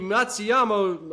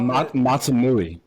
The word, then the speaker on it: Matsuyama: Okay, first Todd of the week is the announcer who got Hideki Matsuyama. I got his name wrong, so that's why it's not a Todd.